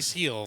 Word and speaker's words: Gil: Trust me, I for a while I thought it was Gill and I heard it pronounced on the Yankees broadcast.